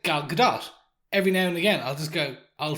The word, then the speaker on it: Gal Gadot: we were kids, and you kind of think if there's a T on the end of it, then that's probably silent, and that's maybe where we get it from. But yeah, Gal Gadot, definitely.